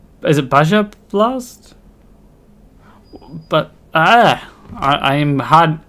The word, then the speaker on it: Baja: is a good question and how do you pronounce it is it Baja Baha Blast okay I had to double check because